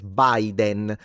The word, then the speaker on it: Biden: But with foreign names like Trump or Biden, it's not like we would say Biden even though the I is always a E in Italian, but everyone says Biden.